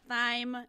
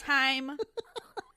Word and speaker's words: thyme: It's not thyme. It's time.